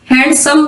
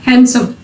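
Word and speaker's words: handsome: Before N, डी जब एन से पहले होगा तब भी साइलेंट होगा। हैंडसम, हैंडसम सही वर्ड नहीं है, हैंडसम।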